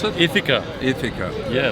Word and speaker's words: Ithaca: How do we pronounce it? Ithaca. Ithaca.